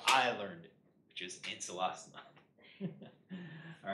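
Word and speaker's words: Ancylostoma: learned it, which is ancelostoma. All right. You can say ankylostoma, ancelostoma, or it's not even just like the, is it hard C or soft C, is a long O or a short O, but it's also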